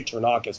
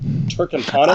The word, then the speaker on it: Turkantanis: I always want to say Ternakis, but that's not right. It's Turkantanis. Oh yeah.